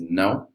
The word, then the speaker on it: não: The word yes is pronounced sim in Brazilian Portuguese, and no is não. So it's very similar. Just no, just put a little a before the o.